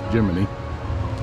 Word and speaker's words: Gemini: Titan a Gemini capsule which they pronounce geminy like Cricket Saturn 1B in the background